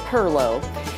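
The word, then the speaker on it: perloo: evolved into one called parallel it spelled like 20 different ways but you say it per lobe and that comes from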